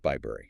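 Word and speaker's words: Bibury: Like in Bybury, B-I-B-U-R-Y, pronounced Bybury.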